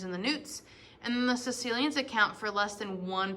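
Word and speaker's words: caecilians: up it is not k cilians i've heard a lot of different pronunciations but it is c that ae makes just an e sound sicilians all of today's amphibians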